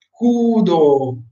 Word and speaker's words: Kudo: Si pronuncia Q-U-Do-U, Kudo, ok? Kudo, anche la U di Kudo è lunga.